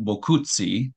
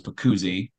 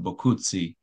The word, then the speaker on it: Boccuzzi: Sergeant Michael V bzi is the well that's my poor Italian pronunciation but uh most of the other other guys refer to me as puszi that's the more American way of pronouncing it but bti is the Original Italian pronun ation did he cling